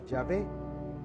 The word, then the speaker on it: Yahvé: que es Y h español se suele pronunciar como Yahvé y dice Jehová.